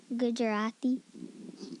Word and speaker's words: Gujarati: Irfan attend religious education classes, learn Chinese and Gujarati. Did I say it right? Gujarati. See, he's way better than me.